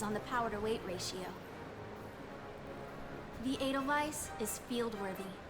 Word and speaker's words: Edelweiss: So it's Edelweiss, right? It's not Weiss. It's pronounced with a V sound, right?